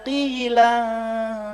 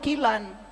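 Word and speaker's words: قيلا: La yasma'una fiha lagwa wa la ta'sima illa qilan salama salama qila. Dengung. Ikhfa. Nggak boleh kilan. Nggak boleh. Kalau kilan tuh kalau menghadapi huruf idhar.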